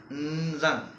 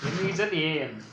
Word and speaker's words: Nzan: N is You should keep N in suspense. Oh, okay. Nzan. N-Z-A-N. N-Z-A-N. N-Z-A-N. Nzan. Yeah, okay. we pronounce Nzan. So when we convert in English, N should be in suspense.